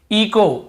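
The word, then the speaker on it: echo: इको, इको, यहां पर भी एच, ईचो नहीं पढ़ेंगे, सी एच को चा पढ़ते से ईचो नहीं, इको ही पढ़ेंगे, क्योंकि रूल यही बोल रहा है, ओ के पहले यदि एच है तो हमें एच को नहीं पढ़ना है, ठीक है, एच साइलेंट रहता है।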